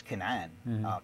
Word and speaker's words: Canaan: back then the the land was known as Canan Canaan we pronounce it and the people of the land